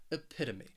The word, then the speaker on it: epitome: have for you is epitome this word has four syllables and the stress is on that second syllable that that pit epitome and what this means